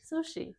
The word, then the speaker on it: sushi: Sushi. Yeah. But in in Tokyo, it's pronounced like sushi. Sushi. Sushi. Sushi. Sushi. This u is unpronounced because this is in between two unvoiced consonants.